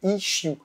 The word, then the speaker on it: issue: On peut aussi parler d'une issue, mais à prononcer à ce moment-là avec l'accent anglais, issue.